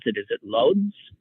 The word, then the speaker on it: Łódź: Is it Lodz? How's it pronounced in Poland? Some people pronounce it Lodz. Some people pronounce it Łódź.